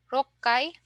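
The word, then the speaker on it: 六階: So we have ikkai, sangai, rokkai, hakkai, and jukkai. Okay? So let's try to pronounce from 1 to 10.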